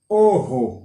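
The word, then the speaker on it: ojo: O-J-O. Oho. Vous savez comment prononcer? Lettre J, ça, il prononce Hota.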